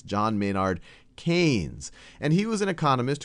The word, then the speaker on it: Keynes: picture of John mayard kees and I often mispronounce him as kees because that's how it's spelled but it's John mayard canes and he was an economist who did a